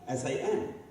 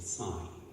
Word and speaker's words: sine: We decided to say, call it sign, S-I-N. But that becomes sin. That's not a good pronunciation. So we decided to start calling it sign.